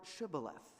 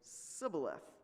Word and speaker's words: Shibboleth: they said to him, "Say the word Shibboleth." And he would say, "Sibboleth," for he could not pronounce it right.